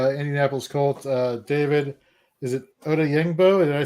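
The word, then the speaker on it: Odeyingbo: Is it Oda Yingbo? Did I say that correctly? Did I pronounce that correctly? Oda Yingbo, yeah.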